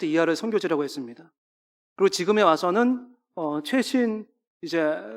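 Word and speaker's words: 和: 것입니다 그다음 한번 보여주시겠어요이 와 사상이라는게 있어요 이게 한자로 화학자인데요 그 나라 이제 발음으로 와라고 합니다 이게 여러가지 이걸 위해서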